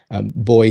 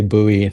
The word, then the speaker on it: buoy: buoy him up and boy him up. Excuse me, I got to say it right. I was counseledled not to say buoy, the American version there. Boy him up.